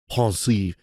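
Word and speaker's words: Pensieve: By the way, Snape calls it a pensive. He uses like the French pronunciation or whatever.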